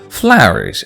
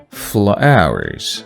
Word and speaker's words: flowers: Flowers. O-W sounds ow. Flowers, flowers. I highlight this S here because I don't want you to forget about this S.